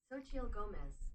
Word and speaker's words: Xochitl Gomez: Pronunciation. Xochitl Gomez.